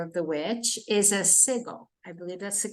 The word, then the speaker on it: sigil: know is aware of the witch is a sigle I believe that's the correct pronunciation yes Sig so sigil yeah a Sigil s i g i l